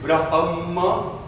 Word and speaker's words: Brahma: Okay, I will pronounce for you. It's a B for Bill, R for Roy, A for Apple, S for Harry, M for Mary, A for Apple. So it's Brahma, and the last word